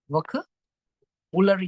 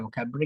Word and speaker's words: vocabulary: කොච්චර pronunciations කැතයි. එහෙම pronounce කරන්නේ නැහැ. vocabulary කියලානේ හරි pronunciation එක.